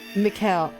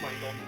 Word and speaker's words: Michael: Mikkel. Is it Mikkel? Have I been pronouncing it wrong? No, it's Michael.